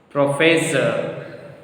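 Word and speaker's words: professeur: I told when letter a is followed by a consonant in the same syllable, a will be pronounced a. So here professor and then sir, because already I told when there are two s, Yeah. then s will pronounce sir as is.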